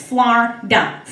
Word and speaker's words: Florida: You see, down here in Florida, that's correct, it's 2 syllables, Florida.